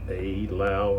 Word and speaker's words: Eylau: playing ala aao so maybe pronounced a Lao instead of I and 1807 and it's